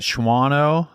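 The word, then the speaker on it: Shawano: totally it was at shano not shano or schano anyway it's one of those unpronouncable Towns at Cecil Fest in the year 2003 Shao leave out silent W shano not shano shano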